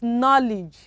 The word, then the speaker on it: knowledge: the second one is knowledge okay knowledge k also is silence the thread one s-o-l-s-o-l-e-m-n